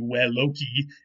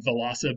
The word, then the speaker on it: veloci: Now, in Latin, V's are always pronounced like W's, at least in classical Latin, and C's are always pronounced hard like K. So this would be veloci, which doesn't sound like velosa, but it's the same word from Latin.